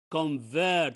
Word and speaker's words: convert: who can read this word with me it's convert very good convert is a verb okay because